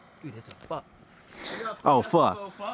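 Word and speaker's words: phở: And then I've got some faux broth concentrate, which I have never tried before. Dude, that's a fuck. Oh, pho. Wait, it's faux? It's pho. There's no accent on the O.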